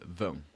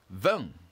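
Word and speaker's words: vingt: How do we spell VEN? Again, that's simple. Let's spell that out together. VEN is spelled V I N G T. VEN.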